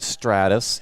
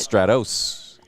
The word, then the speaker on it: Stratos: which her new hoyt stratus is on order i asked how do you pronounce it they said in texas it's stratus how else would you pronounce it stratos what it's an os